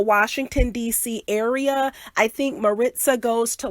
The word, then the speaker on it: Maritza: not mckenna but mccaina and then uh marissa is maritza so maritza apparently mccaina is a swahili